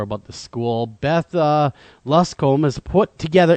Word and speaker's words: Luscombe: Beth, uh, Luscom put together. Am I pronouncing your last name correctly, Luscom? It was totally fine.